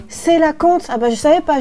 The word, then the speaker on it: coelacanthe: Tu sais que ça se prononce colacanthe?